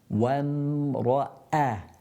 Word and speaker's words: وامرأته: So you got the waw from the lips, and then the meme from the lips, and then you got the hamza from the bottom of the throat. وامرأته. A sharp sound that's created when you say a.